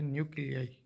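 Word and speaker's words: nuclei: एन यू सी एल इ यू एस न्यूक्लियस और उनका plural है न्यूक्लियाई। एन यू सी एल I pronounce न्यूक्लिय हमने atom के chapter में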